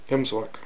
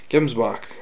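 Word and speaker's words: gemsbok: Tomorrow we are going out scouting for Hemsbach. That's how they say it. Gemsbach is how most people would say it. From the States, anyways.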